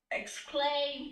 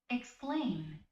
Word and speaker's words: exclaim: yeah, it's pronounced as e.